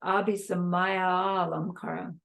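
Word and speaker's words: अभिसमय: then Alam Kara but in more accurate Sanskrit this would be all one word and there'd only be one a but it'd be a long a and then it would sound like ABI Samaya so it's a little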